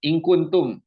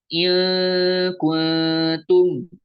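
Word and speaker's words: إِنْ كُنْتُمْ: Kemudian contoh yang lain, ingkuntum. Kita ambil yang satu lagi. Nah, ini juga sama, bukan dibaca ilkuntum, tapi ingkuntum.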